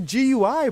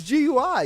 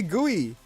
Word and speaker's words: GUI: It's It's a GUI, bro. It's GUI. You don't say Guey. Guey is bugs, bro. If you say Guey, you got to go. It's GUI over here, bro.